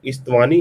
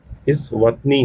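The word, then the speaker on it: Eswatini: इसको याद रखेंगे आपका स्मालेस्ट है गामी गामीबिया देन इस्तवानी है। इस यहां पे इस्तवानी नहीं सॉरी माय बैड। यहां पे इस्तवानी नहीं प्रोनाउंस कहेंगे। इस वतनी है तो इसको प्रोनाउंस कर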